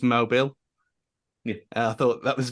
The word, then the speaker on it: Mobil: Mobile spelt the same way, but Mobile 1 was a oil thing that they used to have in F1. Yeah, and that was always pronounced Mobile.